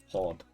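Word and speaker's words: haud: Hod. H A U L translates to hold. And it has the exact same meaning, just hod, pronounced hod.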